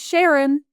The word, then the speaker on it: Sharon: Actually, and her name was Sharon. Rhymes with Karen.